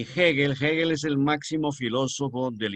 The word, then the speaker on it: Hegel: Es el máximo representante en filosofía Hegel, que se escribe con H-E-G-E-L, Hegel.